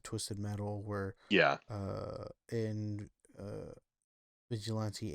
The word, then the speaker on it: Vigilante: Um, and I growing up I didn't pronounce them Vigilante because I didn't know that was a word. Vigilant. I just call them Vigilant. That's fucking even better. Yeah, I'm like, oh, Vigilant 8. Vigilante. Yeah.